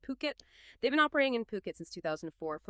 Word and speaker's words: Phuket: Ocean Worldwide, they're a luxury real estate agency based right there in Fuket. And just so we're all on the same page, that's ph pronounced Puket.